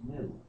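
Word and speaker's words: gnu: word from language and the correct pronunciation has a click sound in it when the European colonists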